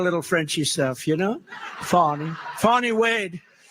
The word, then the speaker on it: Fani: But think of it, Fani, it's F-A-N-I, but they pronounce it Fani. How do you, if you had the name F-A-N-I, it's called Fanny, right? How do you get Fani?